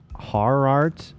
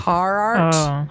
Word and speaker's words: Gerhardt: We don't pronounce G's the same in South Africa. It's more like Harart. Best way I can type it. Maybe I didn't say it correctly. Harart.